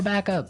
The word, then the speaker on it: backup: point out that here the pronunciation and stress of this phrase is really important hey yes yes you have to say backup Backup backup yeah so both words are stressed at about the same level hey mhm backup cuz